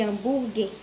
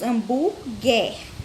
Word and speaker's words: hambúrguer: Ao pronunciar as palavras quiabo e hambúrguer, nas sílabas qui e gué, que letra não é pronunciada? A gente acabou de falar. Tem uma letrinha aí que ela não é pronunciada quando falamos hambúrguer. E quiabo. Não dá para ouvir o som de uma letrinha aí.